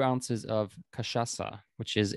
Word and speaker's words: Cachaça: Cachaça.